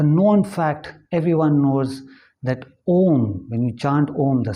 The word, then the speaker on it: Om: The actual pronunciation is A-U-M. So it becomes your mouth is open and closed, the sound is Om.